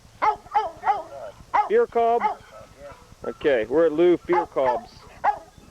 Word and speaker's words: Fohrkolb: Fohrkolb?